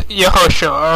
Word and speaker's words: Yehoshua: Now, this is Yehoshua, or Yod-Heh-Vav-Shin-Ayin, the spelling that all those who say Yehoshua, Yahushua, Yahusha, and Yahshua all spell it this way.